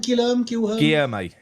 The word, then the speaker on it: Guilherme: Guilherme.